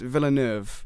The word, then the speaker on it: Villeneuve: directed by Delis Villeneuve. Is that See, how you say it? I was gonna say that as I thought it was Delis Villeneuve, but it's Yeah.